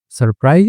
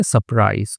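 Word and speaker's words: surprise: इन सरप्राइज, ठीक है, तो जो आर होता है उसको साइलेंट भी कर देते हैं, नहीं भी करते हैं, ठीक है, सरप्राइज या सरप्राइज, तो वो आश्चर्यचकित हो गई।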